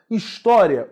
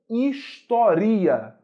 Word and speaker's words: história: máxima intensidade de pronúncia se fosse a máxima intensidade pronúncia a palavra não seria história a palavra seria historia e historia não seria